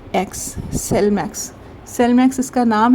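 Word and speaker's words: Slimex: मैं आप इसका स्पेलिंग बता देती हूं। एस एल आई एम ई x cell max.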